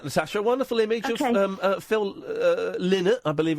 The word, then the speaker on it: Phil Lynott: A wonderful image of Phil Lynott, I believe it's pronounced, with poo on his pants.